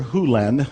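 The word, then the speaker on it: Hew Len: Hu Len, I've shortened it from E to Dr. Len, but it's actually Dr. Hu Len, if you want to say his name correctly.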